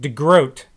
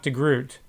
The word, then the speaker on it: de Groot: note and said Dan that's not how it's pronounced in Dutch the degr OT is pronounced like de grote not de groot so here I am